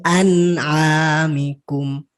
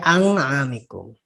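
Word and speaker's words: أنعامكم: Nun mati. Ya. Nun mati bertemu dengan ain. Dibaca ya. jelas. Apa hukumnya namanya? Ikfa. Hah? Ikfa bukan, Tat? Izhar. Oh, izhar. Oh iya. Iya, tapi nggak apa-apa. Kita tuh nggak apa-apa, nggak terlalu hafal dari setiap hukum-hukumnya. Yang penting tahu cara bacanya tadi. Bacanya. An'amikum. Jangan sampai ang'amikum ya Oke.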